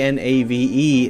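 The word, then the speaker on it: knave: spelling hasn't really changed we say k n a v e Nave like Nave na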